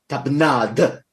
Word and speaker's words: tapenade: And in the French, the D is pronounced. The D is real hard. Tapenade. Real hard. So it's a real hard D.